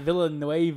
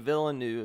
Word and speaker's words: Villeneuve: Yeah, that's officially how you pronounce it. It's not Villeneuve or whatever. Villeneuve, how I pronounced it for years. Denis Villeneuve is what he prefers for the pronunciation, since it's his name.